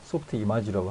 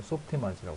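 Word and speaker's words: Softimage: 어쨌든 히스토리 중에 하나니까 소프트 이마지라고 합니다. 저는 왜냐하면 캐나다에 있는 그 프렌치 쪽 계열 있죠. 그쪽 계열 사람들이 모여있는 디벨롭 부서에서 만들었기 때문에 그 회사에서 만들었기 때문에 이거 소프트 이마지라고 합니다. 그쪽 발음대로.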